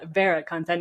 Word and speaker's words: VeraContent: some slightly different pronunciations Americans like to say ver actually I was impressed with your correct pronunciation of our name so thanks for Vera content is how we say it um so why did